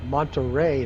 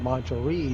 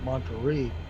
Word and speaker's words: Monterey: have a flight from Monterey. Now it's not Monterey, it's Monterey. My last video I pronounced it Monterey, but it's Monterey, and regional.